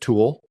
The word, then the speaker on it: Thule: Thule. Yeah. Is that how you pronounce it? I've heard it multiple different ways. I've heard Thule. I've heard Thule. I've heard Tool. But I like Thule.